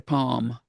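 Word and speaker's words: pome: Is it palm or pommy? It's palm. Like it's just like dome. I've been saying pommy but it rhymes with dome pal.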